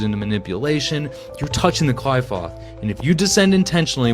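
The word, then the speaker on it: Qliphoth: manipulation, you're touching the clifoth and if you descend intentionally without people potato tomato tomato, some people pronounce it the clip off, right? He's pronouncing it the Eurasian way.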